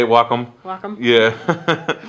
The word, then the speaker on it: Wacom: yeah I think that's how they say it Wacom wack yeah like wac Wacom thinking the wac